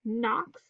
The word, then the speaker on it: Knox: So we have silent letter W in the word wren, silent letter K in the word Knox, silent letter B in the word lamb.